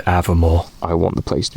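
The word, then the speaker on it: Aviemore: too early in Avermore, because it's pronounced Avermore.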